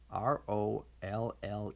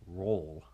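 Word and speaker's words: Rolle: Rowley Switzerland Trisha Lee ro ll e Switzerland roll it's probably said that's probably pronounced roll I can't make out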